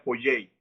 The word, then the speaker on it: Poyais: yo estoy pronunciando por Jason porque es como se escribe pero realmente sería poyey se me olvidó ese punto vemos también un